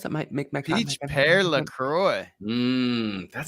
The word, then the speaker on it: LaCroix: Peach pear LaCroix. That sounds awesome. Yeah, that is. Doesn't sound bad. And it's pronounced La Croix. Sounds It's French, you understand? Actually, it's French Canadian.